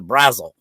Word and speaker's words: Braswell: asked is because they everyone pronounces a brazzle also say it's one word what's your name mr brazil so i was just curious right well i think it's braswell as far as you're concerned